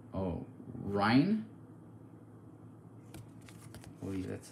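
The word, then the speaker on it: Varian Wrynn: Varian Wyrn? Oh, Rhine?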